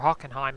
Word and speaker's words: Hockenheimring: Manny sow news Ford hockenheimring or hockenheim is how they say it I do know